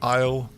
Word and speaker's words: Isle: the word island island Isle I hate that there's a a Ness that you don't pronounce wait a second let